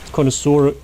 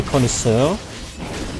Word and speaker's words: connoisseur: It's still weird to deliberately pronounce connoisseur incorrectly, because it's a French word, so you would say connoisseur. And in German you would say connoisseur. So it sounds a bit German, but it's still closer to the French word.